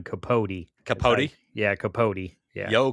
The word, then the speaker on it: Capote: If you go online and say Capote, you're saying it wrong because it's Truman Capote.